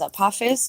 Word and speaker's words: Apophis: close to Summer Solstice guys pronunciation is apus named after um a Greek God apus I'll continue um